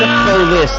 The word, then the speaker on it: Persepolis: Persepolis. There's no F. No H.